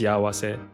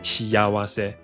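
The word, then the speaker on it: しあわせ: Normally it's pronounced shiawase, but in Soda We're Alive, they pronounced it shiyawase.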